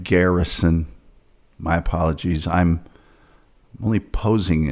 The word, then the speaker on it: Garrison: Well, there I mean the whole whole movie is based on uh Jim Garrettson's sort of investigation. And Jim Garrett pronounced it wrong. It's Jim Garrison.